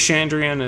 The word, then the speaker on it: Chandrian: Is it Chandrian? Am I getting the pronunciation there correct? Yes.